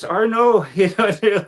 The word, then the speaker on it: Arnoux: Next thing, Arnuk. I was like, "Oh, they said my name wrong, but I'll answer it anyway just to correct them." Yeah, it's Arno.